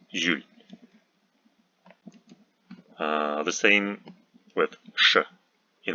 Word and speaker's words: Jules: French borrowings like Julie, Jules, Julien are pronounced by educated people at least as Ju. We know the rule that in Russian words J is never soft, but in borrowings like this we pronounced it as J, soft J, Julie, Jules.